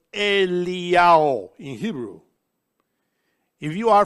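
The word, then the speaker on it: אליהו: Then, Yod Hey Vav, which spells Iyao, because in Hebrew, Elijah is pronounced Eliyahu.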